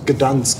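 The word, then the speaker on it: Gdańsk: Und der polnische Name ist Gdansk.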